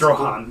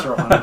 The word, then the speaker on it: Strothan: Oh, It's that's Strohan. Yeah. It's pronounced weird, but yeah, it's Strohan. It's like stroganoff.